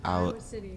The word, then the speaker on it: Owl City: Owl City. Owl. I don't know how to say that. Owl. Like the owl.